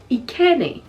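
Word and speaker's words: Ekene: And the next name is Ikene. Ikene is spelled E-K-E-N-E.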